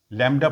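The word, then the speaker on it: lambda: ये सिंबल होता है लडा एल ए एम बीडी ए लडा लडा pronounce करते हैं बी प्रोनाउंस नहीं करते लडा इसका सिगनल साइ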